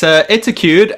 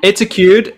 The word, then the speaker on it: Etacude: Eric Oscar Wesch from Etacude. Is that how you pronounce it? Yeah, it's Etacude, and in case you don't know, it's not a secret, but it's Etacude is educate backwards, wow.